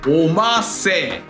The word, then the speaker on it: 御老成: この五老星と読める漢字の本当の読み方はおませ。